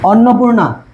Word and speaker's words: অন্নপূর্ণা: দেখো এটা হচ্ছে অন্নপূর্ণা, কি হবে এটা উচ্চারণটা আমি লিখে ফেলছে, অন্নপূর্ণা, ঠিক আছে?